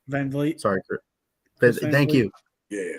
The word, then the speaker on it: Van Vliet: I think it was Chris Van Zet. Is that how you say his name? Van Vliet.